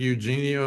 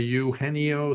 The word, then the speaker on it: Eugenio: But yeah, this I'm trying to pronounce his name correctly because it looks like Eugenio to me, but it's a Uhennio Suarez of the Diamondbacks.